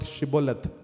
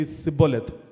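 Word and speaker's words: Shibboleth: of the words, because the Ephraimites were not able to pronounce the word Shiboleth. They only way always say Siboleth.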